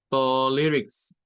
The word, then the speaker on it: politics: Luego la I, esta es un schwa. Es pool, pool, Y luego eso último, miren, es la última sílaba, o sea, esta tiene 3 y la última sílaba para esa es tix, con el sonido corto para la I. Politics, politics, politics.